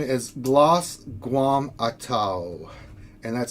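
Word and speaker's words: Glozz'Guam'Aitto: The name is Glos Guam Atau, and that's spelled Glozz apostrophe GUAM apostrophe AITTO.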